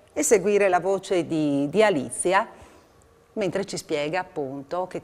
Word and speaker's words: Alicia: Ne parliamo con Alicia, faccio sempre fatica a pronunciare il nome, Alicia.